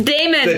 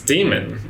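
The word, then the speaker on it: daemon: Compass but about this Damon Damon I always pronounce it Damon it's d like em I like Matt Damon Damon I said Damon to gammon its demon oh they made a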